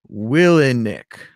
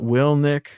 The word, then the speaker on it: Willink: Apparently his name is Willink, not Willnik.